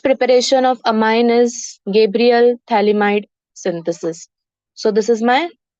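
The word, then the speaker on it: phthalimide: Thalamide ka P is silent.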